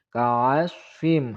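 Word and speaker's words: كَعَصْفٍ: Ka'asfim, hati-hati shod keliru dengan huruf sin. Ka'asfim.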